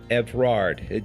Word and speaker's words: Evrard: Evrard. Did I pronounce it right?